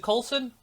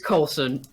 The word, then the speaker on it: Coulson: i'm here today with courtney coulson is it colton coulson it is colson thank you people keep mispronouncing it but it's in the marvel movies